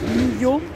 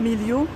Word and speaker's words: Guimiliau: Alors apparemment ça se prononce Millau, pas Milio.